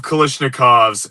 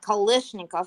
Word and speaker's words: Kalashnikov: Speaking of Kalashnikovs and cursed guns, have any of you seen that video circulating of someone who took a AR bolt carrier? Pronouncing it correctly. It's not Kalashnikov.